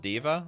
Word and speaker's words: D.Va: It's pronounced Diva. All right, fair enough. Diva.